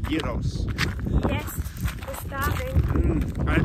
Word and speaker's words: gyros: It's spelled gyros, but I learned it's actually pronounced gyros.